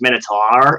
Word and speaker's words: Minotaur: ever gave me up they're like but it's pronounced Minotaur and I was like oh yeah yeah so